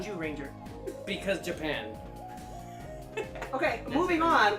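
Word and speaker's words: Zyuranger: The Sentai version of Mighty Morphin Power Rangers is called Kyoryo Sentai Jew Ranger, Spelled with a Z. but it's pronounced Jew Ranger.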